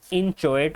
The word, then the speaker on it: inchoate: सबसे पहले हमें पता होना चाहिए कि क्रिमिनल कॉन्स्पिरेसी को इंचोएट ऑफेंस क्यों कहा जाता है।